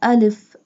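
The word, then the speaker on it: ا: Ja, alif, alif, and alif pronounced from the empty space of mouth.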